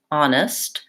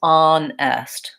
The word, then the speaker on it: honest: basically an acceptable pronunciation what you don't want is on esthe you don't want to be too even across the two syllables and have a long clear vowel on the second syllable you really want it to be short so whether it's honest